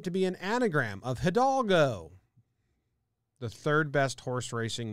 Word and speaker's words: Hidalgo: They changed the name because they believed it to be an anagram of Hidalgo, the third best horse racing movie ever made. But they omitted the silent initial H, which, I don't know,